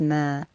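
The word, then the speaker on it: ما: dash linked to a vertical line and it's pronounced as mer please remember what this looks like and look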